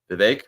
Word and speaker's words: Vivek: Vivek there we go sorry Vivek that rhymes with cake thank you thank you for I'm sorry if I mispronounced his name uh Vivek okay rhymes with cake got it um but yeah so